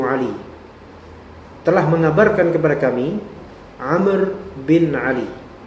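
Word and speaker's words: عمرو: telah mengabarkan kepada kami Amr Bin Ali jadi bacanya itu Amr bukan Umar Kenapa karena ada huruf wau setelah huruf ro kalau misalnya Umar bacanya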